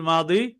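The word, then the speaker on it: الماضي: অতীতকালের ক্রিয়া আলফেল মা আমরা ফেলে মাঝি বলি তো মাঝি এটা উর্দু ফার্সি উচ্চারণ আলফেল মাদি অতীতকালের ক্রিয়া এইখানে দেখেন আল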